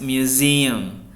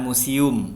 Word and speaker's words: museum: Next, museum, bukan museum ya, it is Indonesian. Museum. Jadi z-nya yang ditekan, museum.